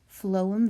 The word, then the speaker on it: phloem: pronounce phloem for you in a sound spelling it is flow flow phloem vessels are the tissues